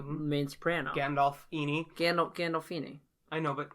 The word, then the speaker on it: Gandolfini: gandolfini as the main soprano gandalf eenie gandol gandolfini i know but like how do i say